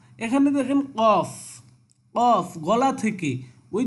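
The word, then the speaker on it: ق: এখানে দেখেন calf, calf স্বাভাবিকভাবে, কফ এটা গলা থেকে আর কাফটা হবে স্বাভাবিকভাবে সামনে থেকে বা হলকের মাঝখান থেকে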